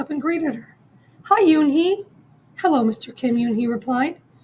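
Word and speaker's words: Unhei: turned to Joey she nodded slowly yes it's pronounced Yuni and it means Grace Mr Kim added Yuni Joey said slowly and this time perfectly it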